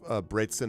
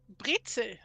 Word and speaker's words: Brezel: Brezen are already salty enough. Did I pronounce that at all right? Brezen? Brezel. Brezel. Not even the N, huh?